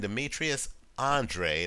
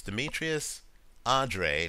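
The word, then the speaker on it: Demetrius Andrade: Olympic trials match between Demetrius Andre I believe is how he pronounces it it's spelled Andrade right it's Demetrius Andre he's an unbeaten fighter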